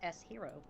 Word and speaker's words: Shiro: Fun fact, Shiro is actually pronounced S-Hero.